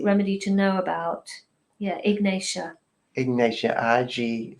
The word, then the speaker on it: ignatia: would you say that slower and kind of spell it ignatia i g n a t i a ignatia and it's a remedy that has a